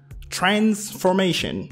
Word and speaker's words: transformation: one Embrace embrace transformation so the stress is on the first syllable here transformation on S competitive the